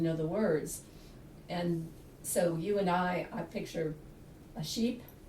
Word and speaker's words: Ewe and Eye: It's E-W-E and E-Y-E, You and I, and it's based on the fact that the gallery includes visual arts.